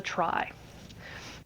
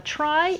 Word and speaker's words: trie: of something called a try so a try is spelled TR ie and it's actually from retrieval but sadly it's still pronounced try just to confuse you